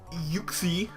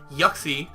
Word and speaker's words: Uxie: Liam's team consists of Infernape, Mamoswine, Whimsicott, Blastoise, Licky, Kieran Black, Drapion, Uxie, or as he calls it, Yuxie. I believe that's how he pronounces it, which I don't like that.